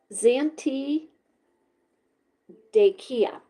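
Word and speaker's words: Zantedeschia: Zant T dechia.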